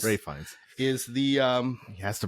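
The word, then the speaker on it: Ralph Fiennes: Oh, and then it is Ray Fiennes. Ray Fiennes is the he has to pronounce his name weird.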